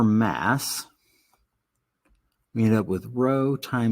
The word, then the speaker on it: rho: that's what this is It's a Greek letter it's spelled rho pronounced row so row is equal